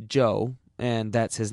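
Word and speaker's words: Chou: Joe was amazingly cooperative Joe spell @ch oh you if you want to be exotic it still pronounced Joe and that's his name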